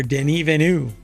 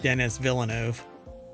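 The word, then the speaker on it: Denis Villeneuve: there's an entire phrase here that's missing director Den Vu that is apparently how you pronounce his name or he pronounces his name or you're supposed to pronounce his name not Dennis Villano denu um believes Blade Runner 2049 could have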